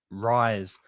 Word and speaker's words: rise: high, rise.